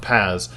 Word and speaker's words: PaaS: you said it's p a a s and pronounced Pas uh this is essentially you know you're building